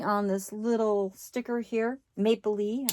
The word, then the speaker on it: Maplelea: this little sticker here Maple Le I said it right I for the longest time I was calling mapia but I have been corrected for my